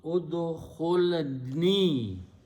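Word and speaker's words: ادخلني: If you don't put the noon there, noon has no purpose other than it is separating the two words together. Okay, telling you that this is another word, this is another word. Here, this is just one word, udkhuli, okay, for female. If you just don't put the noon there, then you'll pronounce udkhuli. So you don't know if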